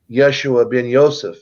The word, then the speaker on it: Yeshua bin Joseph: came in as Jesus which is actually Yeshua bin Joseph is really how you pronounce his name and he left a